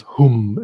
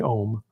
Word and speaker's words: Hum: So those two seed syllables are really important, and they are not the same sound. Like often when I'm listening, I'm hearing people say something like Om Mani Padme Om, and that's close, but it's Om Mani